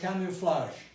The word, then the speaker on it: camouflage: advocate adjacent rushed now this verb is from french so it's pronounced camouflage if it is voiced